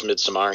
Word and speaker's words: Midsommar: She was in Midsommar. Is that how you pronounce it? It was Midsommar, right? Yes, Midsommar, yeah.